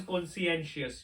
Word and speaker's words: conscientious: The next one is conscientious. You need to know the right pronunciation too.